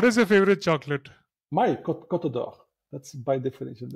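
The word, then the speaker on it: Côte d'Or: So it's a French French word for gold co.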